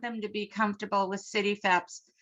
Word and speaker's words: CityFHEPS: to be comfortable with city febs so the h is silent um so in order